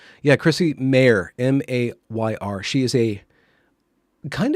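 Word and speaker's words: Mayr: just want to really make sure that i pronounce her name correctly yeah chrissy mayer m-a-y-r she is a kind of a cherry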